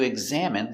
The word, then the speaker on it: examine: Stress on the second syllable.